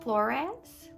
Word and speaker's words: Flores: So it's actually pronounced Flores.